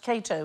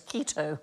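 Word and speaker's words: Cato: The first man he killed was an actor who mispronounced Kato as Keto on stage.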